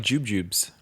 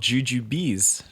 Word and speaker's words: jujubes: Because I always thought they were like jubjubes. That's what I called them. Yeah, but apparently they're called jujubes.